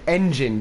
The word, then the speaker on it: Ngine: It's called Engine, but it's spelled N-G-I-N-E.